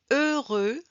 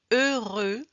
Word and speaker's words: heureux: 2 de je peux je peux je veux je veux heureux heureux on ne prononce pas le h ni le x à la fin remember we do not